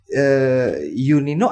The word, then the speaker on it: Yunino: Oke, ini berarti Yunino atau Junino? Yunino sebenarnya ejaan Yunino? lama. Saya lahir kan sebelum tahun 73. Jadi ejaannya kan masih Y, bacanya Y.